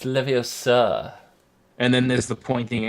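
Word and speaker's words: Leviosa: spell but close enough it's not leio sir it's leio sir and then there's the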